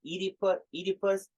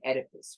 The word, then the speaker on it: Oedipus: think it's Oedipus, or I saw people pronounce it both ways, Oedipus and Oedipus, right?